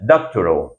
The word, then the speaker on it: Doctorow: Doctoral, a pronúncia correta dele em inglês, o nome dele.